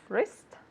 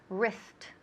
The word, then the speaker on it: wrist: do we say this wrist great repeat wrist wrist wrist okay selfie has been wrist wr wrist of course that w is silent it's muda okay wrist